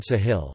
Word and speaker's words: ساحل: The name is derived from the Arabic word Sahil, Sahel Arabic pronunciation, Sahil meaning coast or shore in a